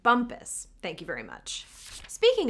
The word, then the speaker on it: Bumpass: They'd like you to know that the name is pronounced Bumpus.